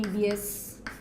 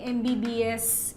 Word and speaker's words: MBBS: And an MBBS. He is an MBBS. We say not a MBBS. Why? Because the letter M, when you pronounce, it is M. So this sound, you see, it's vowel sound, right?